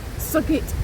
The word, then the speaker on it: Southgate: Dan and I are here today at Great Snoring Churchyard to pay respects to his Southgate or Sugit as it's pronounced ancestors which I discovered about 14 15